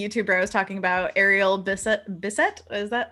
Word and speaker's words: Ariel Bissett: Oh, and Kendall's asking, is the YouTuber I was talking about Ariel Bissett?